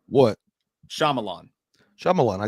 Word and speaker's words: Shyamalan: we're doing i'm not shaliman am night shyamalan which by the way that's exactly how you pronounce his name what shyamalan shyamalan i said that